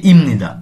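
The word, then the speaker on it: 입니다: মতো উচ্চারণ করতে হয় যেমন আমরা পড়ি ইমনিদা লিখা থাকে ইফনিদা আমরা নিউনের প্রভাবে বিউটিফটিকে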